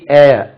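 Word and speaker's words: heir: வாரிசு ஹி has three ஏர் ஏர் ஹி ஹாஸ் ஹி ஹாஸ் அன் ஏர் வாரிசு உச்சரிப்பு ஹேர்னு சொல்லக்கூடாது ஏர் தான் சொல்ல வேண்டும் ஓகே டூ யூ ஹேவ்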